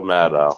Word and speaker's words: Maddow: I think you're pronouncing it wrong. It's Mad Cow, right? It's Rachel Maddow, unless she had her name changed. But CNN's losing the news war too.